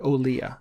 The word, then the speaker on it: Olija: up on my radar it's spelled in a unique way o l i j a um but uh in the game they say the word olea so that must be how it's said um and it's uh